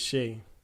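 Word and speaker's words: Shai: the other day that it's Shea he said it's pronounced like she dog Justin Jackson I think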